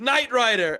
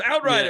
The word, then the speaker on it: Outrider: Well, they said our name wrong originally. Did they? Yeah, they were like Knight Rider, and someone was like, "No, it's Outrider. It's Outrider."